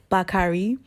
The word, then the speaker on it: Bacardi: went to Puerto Rico this is pronounced back hurry back hurry back re back alright alright I know